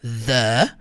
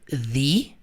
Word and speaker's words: the: Você sabia que você pode pronunciar ela dizendo the ou the, só que vai depender da palavra que vem na sequência.